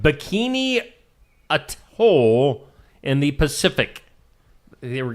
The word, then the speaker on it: atoll: a place called Bikini Atoll in the Pacific. They were get weren't very pacific over the Pacific. Place called Bikini. It's a t o l. How do you say that? I'd say a toll.